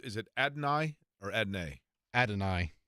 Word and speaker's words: Adonai: Adonai. Adonai Mitchell, better known as AD, but he's going to join us.